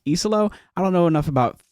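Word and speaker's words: Iisalo: The head coach, I thought it was Easalo, but apparently it's Iselo.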